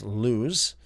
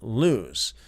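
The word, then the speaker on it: Luz: L U Z, most likely pronounced as lose.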